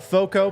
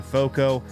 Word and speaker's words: FOCO: know guys check out foco pronounced like Fort Collins but it's f-o-c-o they're they are a